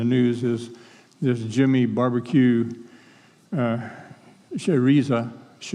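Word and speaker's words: Chérizier: is this Jimmy Barbecue Cheriza, I think is the way they pronounce it, Cherize, French.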